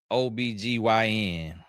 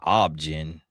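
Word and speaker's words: OB-GYN: Cuz it sound like I heard them pronouncing objen or something. Obggin. I was like, "No, y'all stop trying to be fancy and just say OBGYn."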